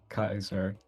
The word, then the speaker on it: Caesar: I think this is where Kaiser, the weird pronunciation of Caesar. The accurate pronunciation.